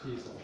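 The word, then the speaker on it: teasel: Tiesel. Tiesel. So it's also used for carding wool, and that's the seed head. And I mentioned Rhymes this. with weasel. Rhymes with weasel.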